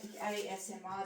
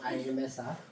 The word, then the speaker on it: ASMR: It's like ASMR. Did I say it properly? Yes, you did. I did. Not AMSR.